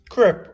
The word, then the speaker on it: crêpe: And that is crepe or crepe as it's actually pronounced.